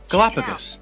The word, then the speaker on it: Galapagos: Galapagos.